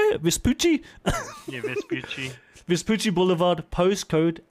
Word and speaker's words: Vespucci: Vespucci?